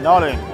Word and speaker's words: Nollaig: an Irish name no yeah how do you spell it n o l l a i g uh noin yeah yeah okay cool great got